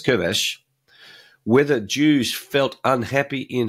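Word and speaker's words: Köves: Shlomo Kovess, whether Jews, by the way, that's pronounced in Hungarian as Kovesh, whether Jews felt unhappy in Hungary and whether they were subject to ongoing anti-Semitism.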